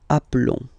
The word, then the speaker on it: appelons: So that's the reason why I've been pronouncing appelons.